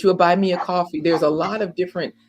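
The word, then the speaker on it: Ko-fi: fi Kofi or coffee it's pronounced coffee but it's spelled Kofi so my point is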